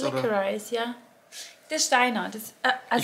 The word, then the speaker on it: licorice: Nee, wie wird das auf Englisch ausgesprochen? Wird das Licorice? Licorice, ja.